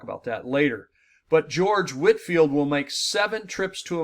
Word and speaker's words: Whitefield: his name is George it says looks like Whitefield but it's pronounced Whitfield George Whitfield 1714 to 1770 George